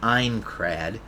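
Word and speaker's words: Aincrad: the villain of the Ankrred arc having a dumbass reply to why he trapped them in Sword Art Online. Also, Ankrred is pronounced Einrred and worst being a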